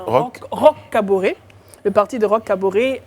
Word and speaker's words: Roch Kaboré: qui est le parti de roche jean prononce bien roch kaboré le parti de roch